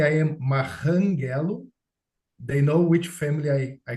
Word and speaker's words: Marranghello: Are there any more questions for and by the way, the pronunciation of his last name is Marranghello, or Yes, you should correct me if I'm, yes, that's correct.